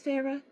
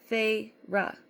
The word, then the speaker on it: Feyre: She fixed her wide eyes on me and said, Please, Feyre? She drew out the 2 syllables of my name, Feyre, into the most hideous